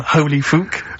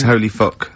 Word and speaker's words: Holy Fuck: Please, can we have more Holy Fook? You're not pronouncing it right, Steve. I know. I was just a bit edgy there. It's Holy Fuck, the little Chinese fella.